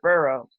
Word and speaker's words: burro: And when I spelled it like that, he was like, incorrect, it's Burro.